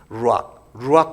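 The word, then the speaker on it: רוח: 하나님이 그 코에 불어넣으신 그 생기가 히브리 말로는 루악이라는 단어입니다. 루악 커피라고 있잖아요. 고양이 분비물 지나온 그 커피를 그 루악 똑같은 발음인데 루악 하나님의 영 성령이에요.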